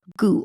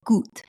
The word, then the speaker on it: Gout: Now, full disclosure, Ronnie and I have been mispronouncing this for a number of episodes now, but we're glad that we finally got it right and we're saying it correctly and more in line with how he himself says his own name.